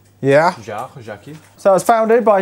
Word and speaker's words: Jaquet: How do you pronounce the guy's first name? Yara? Jaquet. Yeah. Jaquet.